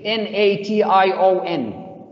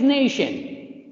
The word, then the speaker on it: nation: incorrect spelling why because t i o we pronounce it as sh sound but when we write